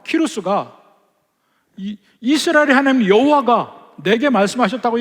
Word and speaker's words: 키루스: 많이 알고 있는 왕 그 왕의 이름은 키루스라 그래요. 키루스. 영어적으로 이해하면 사이러스라고 부르거든요. 이렇게 발음이 달라서 제가 처음에 공부할 때 엄청 애를 먹었습니다. 저 이름이 과연 뭐냐 그러고 원래는 키루스라고 불러요. 키루스.